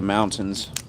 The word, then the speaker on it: mountains: They're going to go to the freaking lake or up to the mountains, whatever they want to do. Or mountains. Mountains as us would say it. We don't we don't pronounce the T.